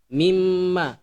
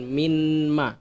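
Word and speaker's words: مِمَّا: Jadi nun di sini itu dia tidak kedengaran. Jadi masuk ke huruf mim. Mimma, bukan minma, melainkan khuliqa mimma indafiq.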